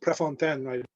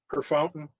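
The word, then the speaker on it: Préfontaine: and it's nice to hear my family name pronounced prefontaine often in saskatchewan i get her fountain or prefontaine so always nice to hear it the way it's supposed to be said so mercy um i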